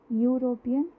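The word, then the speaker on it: European: इसी तरह last example यूरोपियन, इसमें फर्स्ट लेटर हमने लिखा है वॉवल जो है ई, बट साउंड कैसी आ रही है, कॉन्सोनेंट की, वाई कॉन्सोनेंट की साउंड आ रही है। वाई कॉन्सोनेंट की साउंड कैसी होती है, यूरोपियन, यूनिवर्स।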